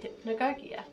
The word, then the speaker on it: hypnagogia: derived from the title hypnagogia and you pronounce it hypnagogia ah well i've been